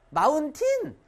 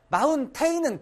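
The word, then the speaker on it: mountain: 마운틴. 마운테인은 극혐이다. 이거 막, 와, 이거 스펠링이. 이거라 그래가지고 와 마운테인 선생님 아니야 마운틴 이건 절반 따라하세요 마운 그렇지 이렇게 발음해야 돼요 그리고 미국의 맨해탄 있지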